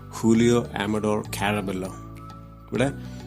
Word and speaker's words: Julio Amador Caraballo: of julio amador williams julio amador caraballo but the pronunciation is because this name is from spanish spanish language that is why julio amador carabella